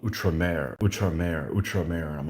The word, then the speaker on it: outremer: together, I'm like, oh, that's how you say outrimer. The whole time, in my head, when I've read, things about um, the Levant, in a book, that's how it's spelled, outrimer. And I'm like, oh, that's outre-mer.